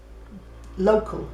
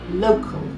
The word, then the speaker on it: local: Local is local. We say local, they say local. So they're landing on the al.